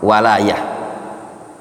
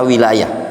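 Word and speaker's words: ولاية: Itu bacanya ikhwan, walayah. Yang berkaitan dengan wala wal bara, itu maknanya walayah. Bukan antum baca wilayah. Kalau wilayah itu daerah. Ada dua yang lafaz seperti ini.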